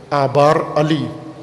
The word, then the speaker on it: آبار علی: آبار علی، آج کل کی عربی میں تلفظ اس طرح سے کرتے ہیں، آبار علی.